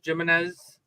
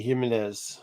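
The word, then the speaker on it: Jiménez: with a j or George jimnez oh Target exclusive it's gimenez Jorge gimenez George jimz however Mis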